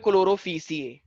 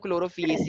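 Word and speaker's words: Chlorophyceae: तो क्लोरोफिएसी, कुछ लोग इसको बोलते हैं क्लोरोफीसिए, क्लोरोफीसिए भी बोल सकते हो, लेकिन मैं क्या बोलता हूँ क्लोरोफिएसी होता है, प्रोनाउंसिएशन फीएसी ही बोलते हैं, ठीक है।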